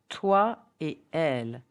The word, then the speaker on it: toi et elle: After et, which means and, example, toi et elle, you and her, there is no liaison in between. So don't say toi et elle, but toi et elle.